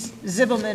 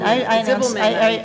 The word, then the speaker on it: Ziebelman: Zibelman or Ziebelman? Ziebelman.